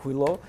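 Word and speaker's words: хуйло: If you forget, it's stressed on the first syllable and on the last syllable of huilo.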